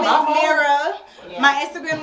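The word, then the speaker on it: Mierah: Okay, so my name is Mira. Yeah. My Instagram name is Mira G. Let me spell it for y'all, because y'all know how to spell that name.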